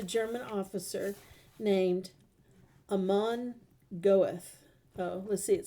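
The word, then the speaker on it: Göth: camp was a German officer named a mon goeth let's see it says get us what you how you're supposed to pronounce it come on get here we heard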